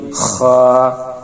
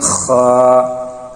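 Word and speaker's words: خ: 3 নম্বর মাখরাজ, হলকের শেষ হইতে গাইন খা। আমরা গলায় যেখানে কাটা বাজলে, কাশি আসলে খেকরানি দিয়ে গলায় খক দিয়ে থাকি, সেখান থেকে এই 2 হরফ উচ্চারণ, গাইন খা।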